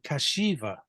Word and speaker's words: Kashcheeva: I have to always remember how to pronounce her name, Kashcheeva.